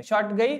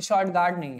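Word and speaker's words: Shortugai: किस देश में है शॉट गई ठीक है इसको ऐसे लिखा जाता है स्पेलिंग इसकी ऐसे ही है एस एच ओ एस एच ओ आर टी यू जी ए आई जी आई है ठीक है शॉर्ट गई कहां पे हैय शॉर्ट गार्ड नहीं है ठीक है तो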